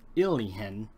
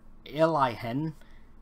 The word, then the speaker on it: Ailihen: for a company called Alihen. It's spelled like Alien but instead of Alien it's Alia Elihen. Len and uh in case